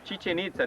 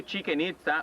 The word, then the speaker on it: Chichen Itza: Chichen Itza, this is the right way to say Chichen Itza. No chicken itza or chicken pizza like some people say.